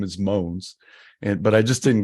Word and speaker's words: Mogens: and I'll say it in the American way moans well I'll see it in a hybrid American Danish way moans at least I pronounced that part right and I pronounced that part wrong but I'll let moans